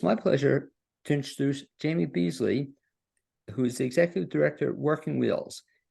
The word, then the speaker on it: Beasley: And do I have the last name, the pronunciation? Beasley.